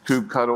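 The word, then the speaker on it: kubectl: Then we got tired of doing ourselves Kubernetes because if you know Kubernetes you have to know coupe cuddle or coupube control however you want to pronounce it.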